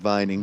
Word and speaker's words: Vining: What's it, Vining? Is that how you pronounce that, David? Number 10. Yeah, Reed Vining.